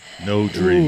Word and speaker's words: Nodri: No Dree. Ooh. That's how you say it.